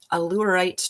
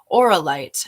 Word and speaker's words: Auralite: we have here is allurite 23 allurite that's not how you say it oralite 23.